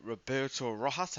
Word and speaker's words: Roberto Rojas: I am joined by Roberto Rojas. Have I pronounced that right?